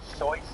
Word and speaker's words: Seuss: Guessing he would have pronounced it Seuss or something if he was German, but we all read it Seuss.